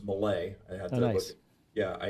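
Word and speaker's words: Mellé: composer y Gil Malay so I figured out how to pronounce it was Malay I had to yeah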